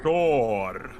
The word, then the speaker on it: Stor: Store. Stor. That's not how it's pronounced though. It's just store.